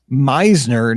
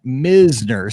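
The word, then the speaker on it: Mizner: It's Meisner, not Misner. See, but you got to realize my school is Mizzou, M-I-Z-Z-O-U. I just put it together, so because he phonetically wrote it out, and I'm like, anything with M-I-Z-Z, like it's just anything close is going to be Miz with Mizzou, but it's Meisner's.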